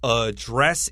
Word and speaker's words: address: When it's a noun, most Americans say it with the first syllable.